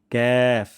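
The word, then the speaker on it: كاف: হয় কফ তাহলে ভুল হবে কফ কফ তারপর ক্যাফ জিবা গোড়া থেকে একটু আগে বাড়িয়ে এবং তার বা উপরে তালুর সঙ্গে লাগিয়ে আমরা উচ্চারণটি করব পাতলা সাউনে ক্যাফ যেন কাফ না হয়ে যায়।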